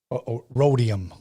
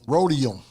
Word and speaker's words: Roadium: us over there Alex rodm that's how you pronounce it who's that rodium rodium yes okay here we go